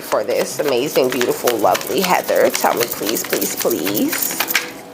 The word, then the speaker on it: Hathor: You actually pronounce Hathor like Heather, okay?